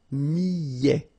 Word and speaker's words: millet: Le millet, here, I, and then double L, so I, millet. ET at the end, open, millet.